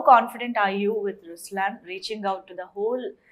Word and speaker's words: Ruslaan: okay so even in raslan when you say raslan also means the lion it's the attitude of am but the right pronunciation is Ruslan okay there is so